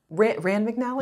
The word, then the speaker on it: Rand McNally: Rand McNally?